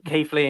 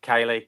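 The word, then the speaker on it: Keighley: wrong recently um like I thought Kei Lee in Yorkshire was Kaylee um until I booked to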